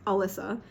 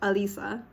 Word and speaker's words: Alysa: kind of funny because my name is Alysa and like in Spanish or like in other languages it's pronounced like Alisa so could you bust